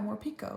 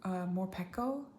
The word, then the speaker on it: Morpeko: Like more like Pico de Gallo, but I guess if it's spelt this way in Japanese, wouldn't it be pronounced Morpeko?